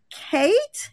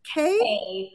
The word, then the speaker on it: Kaye: such a great time Kate is that how you pronounce your name k how do you pronounce your y e just like the letter K how do you pronounce it just K oh just K oh